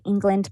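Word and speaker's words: Englund: or loveland they can search for the garth england blood center it's g-a-r-t-h england is spelled e-n-g-l-u-n-d and then there's a link where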